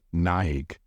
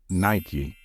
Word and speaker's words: Nike: do you pronounce it there is nothing wrong if you pronounce this word as Nik some native speakers say it this way however the most popular way to pronounce it is Nike where do I buy